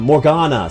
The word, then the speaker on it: Morgana: Not Morrid. Oh I got the name wrong. Um, Morgana.